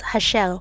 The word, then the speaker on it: Rachel: I discovered that in French Rachel is actually pronounced hashel.